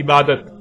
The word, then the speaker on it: عبادت: اور جب عربی لہجے میں اس لفظ کو پڑھا جاتا ہے تو تیز ساکت ہو کر ہے کی آواز میں بدل جاتی ہے، یعنی اسے عبادہ پڑھا یا بولا جائے گا. عربی کا لفظ عبادہ جب اردو میں شامل ہوا تو اسے عربی کی بجائے اردو لہجے میں تے کے ساتھ بولا گیا اور بولا جاتا ہے، یعنی عبادت.